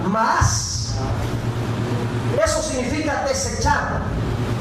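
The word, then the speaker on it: מאס: La palabra desechar viene de la palabra en hebreo maas, con acento en la A, la última A, es doble A, maas.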